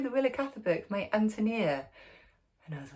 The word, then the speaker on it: Ántonia: Bohemian name anonia is strong accented on the first syllable like the English name Anthony um so immediately even